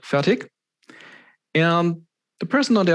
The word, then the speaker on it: Fertig: Because usually if I introduce myself, at least in a German context, I say Fertig, with more or less a K or a hard G in the end. But proper German, it's Fertig, with some ish sound at the end.